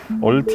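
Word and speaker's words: Ultima: 레벨 어딨지 말하고 있죠 울티마 라고 말씀하시는데 얼티 말하고 현지에서 발음합니다 음 가져 시트 질감은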